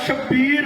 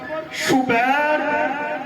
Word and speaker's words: شبیر: رکھے ہیں۔ سبحان اللہ بعض تلفظ کرتے ہیں شبر شبیر مشبر، ٹھیک ہے یہ بھی، لیکن میں حسین کے وزن میں پڑھ رہا ہوں شبر شبیر مشبر۔ علی میں نے